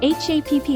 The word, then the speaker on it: 八匹: We replace this h with pp. so it becomes PPIKI. For 8 and 10, we do the same processing as we did for the satsu example. Then add PPIKI after that, becoming HAPPIKI 8匹 or JUPPIKI.